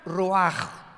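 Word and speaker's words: רוח: Y la palabra para espíritu en el versículo 29 es la palabra, se escribe ruach, como suena, con R de Raúl, CH al final, ruach, y se pronuncia ruach.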